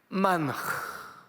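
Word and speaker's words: מן הוא: 만후. 근데 후를 어떻게 발음하냐면 이렇게 해요. 만흐.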